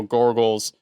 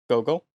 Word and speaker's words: Gogol: So director John Glen put him in the movie as one of General Gorgol's. Gorgol's? Is that how you say his name? Gorgol's? Gogol.